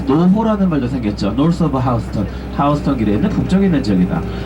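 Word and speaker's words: Houston: 신호동 말고 다음 신호입니다 그래서 스펠링 대로 읽으면 휴스턴이 읽는게 맞아요 어 미중부 지역에 이제 휴스턴이 하는 지방이 있죠네 뉴욕에 사는 사람들 저가 일명 뉴욕커 부릅니다 뉴욕커들은 우리는 요이 휴스턴이 예 이 뉴욕커들은 똑같이 어 부르고 싶지 않다라고 같은 스펠링 있데 하우스턴이라고 해 거야요 하우스턴 예 택시타서 휴스턴 스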